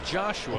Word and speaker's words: Joshua: Yes, it's spelled Joshua, but he's from Germany. Joshua.